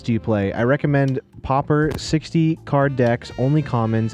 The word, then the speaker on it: Pauper: Pauper.